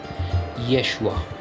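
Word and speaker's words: ישוע: Do you know how that would be pronounced in Hebrew? Yeshua.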